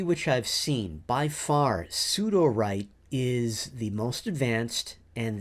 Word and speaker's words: Sudowrite: I'm currently a subscriber to both Sudowrite, which is SUDOWRITE, and Writer, which is spelled RYTER.